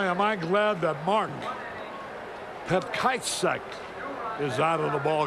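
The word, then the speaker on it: Petkovsek: Boy, am I glad that Mark Petkajcek is out of the ball game. He spells it P-E-T-K-O-V-S-C-K, and the correct pronunciation, they say, is Petkajcek.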